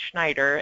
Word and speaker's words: Schneider: So if I say my name is Schneider, then I have two L's and my Schneider is not Snyder, it's Schneider, and I've seen it